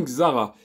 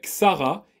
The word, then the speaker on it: Xsara: le nom Xsara puisque j'ai remarqué que les pubs d'époque appelé ce modèle Xsara et non pas Xsara donc le S se prononce ce et non pas eux et c'est quelque chose que j'ai découvert en regardant des pubs d'époque où la voiture était vendue comme étant comme étant une Sarah bon j'imagine que au niveau